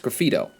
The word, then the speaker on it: graffito: experience graffito graffiti graffitio it's graffito if it's singular or feedio maybe i